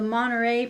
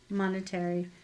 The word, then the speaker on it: Monterey: Oh, the Monterey pine. That's how you say it. Monetary.